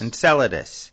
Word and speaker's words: Enceladus: Enceladus.